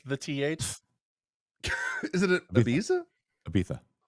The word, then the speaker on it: Ibiza: Ibiza. You gotta say it like the Spanish people do. It's Barcelona too. So that's what Spaniards say. That's how they pronounce it.